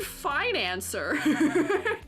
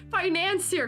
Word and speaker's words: financier: Oh, financier cookie. French. Oh. Oh, okay. Okay. That's how you say it. Financier. So, not finance. The kind of cookie. I see. I see. I see. I see. The pastry. Not actually finance.